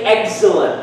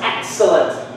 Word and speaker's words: excellent: We got used to say excellent, correct? Yes. It's wrong. It's excellent. Excellent. Because EF is followed by CC or the S sound.